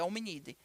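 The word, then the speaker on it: Hominidae: homem de hominídeo Ok como vocês podem ver aqui na escrita é diferente mas a pronúncia é hominídea e o gênero dentro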